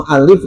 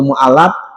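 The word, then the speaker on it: muallif: Bacanya jangan keliru. Jangan ismul mualaf ya. Ya. Beda artinya mualaf dengan mual mualaf. mualaf yang harus dijinakan karena baru masuk Islam. Kalau mualif artinya pengarang kitab. Yang pertama untuk diketahui aja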